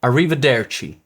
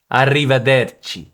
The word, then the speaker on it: arrivederci: For example, arrivederci, arrivederci.